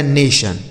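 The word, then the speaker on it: nation: एन ए से ने पढ़ देना है और टी आई ओ एन को आपको सन पढ़ना है। लिखा गया नेशन।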